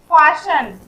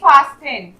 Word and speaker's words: fasten: इसे हम लोग क्या पढ़ेंगे, फाशन, ना कि फास्टेन। फास्टेन बोलेंगे तो वो रॉन्ग होगा। लिखा गया है टी बट यहाँ पे टी साइलेंट है, इसे पढ़ेंगे फाशन।